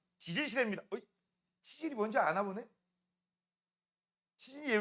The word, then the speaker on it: 지질 시대: 자, 이때 발음 조심하세요. 치질 시대 아니에요. 지질 시대입니다.